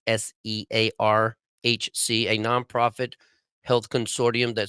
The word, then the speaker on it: SEARHC: There's also Southeast Alaska Regional Healthcare Consortium, or it's almost spelled search, but it's spelled search with the H and C fucking backwards. SEARHC, a nonprofit health consortium that serves the residents of Southeast Alaska.